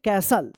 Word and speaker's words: castle: चलिए द ओल्ड, क्या पढ़ेंगे इसको, CASTLE, क्या पढ़ेंगे, कैसल, क्या पढ़ेंगे, कैसल पढ़ेंगे, कैसल, कैस्टल मत पढ़िए, कैसल, ठीक है।